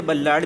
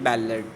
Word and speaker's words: ballad: इसे बल्लाड भी पढ़ते हैं कुछ लोग, but actual authentic pronunciation is बैलेड.